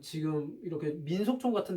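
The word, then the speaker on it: 纪: 그리고 이제 중국 발음으로는 기읍 발음, 키읔 발음 못한다고 그랬지. 중국 사람들, 현대 중국인들. 제 발음으로 가서 지라고 해.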